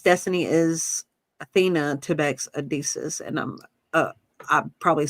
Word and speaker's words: Odysseus: I'm pronouncing Odysseus. Yeah, it's Odysseus.